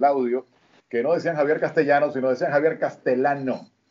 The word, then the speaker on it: Castellano: los americanos no pronuncian castellano. La dos L la pronuncia como una sola L, Castellano.